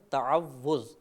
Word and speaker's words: تعوذ: میں مبتلا ہو جاتی ہے۔ صحیح لفظ ہے تعوذ، تفعل کے وزن پر۔ ہمارے بعض بھائی پڑھتے